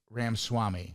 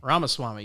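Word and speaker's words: Ramaswamy: Vav Ram Swami. Ramaswami. You got close. Ramaswami.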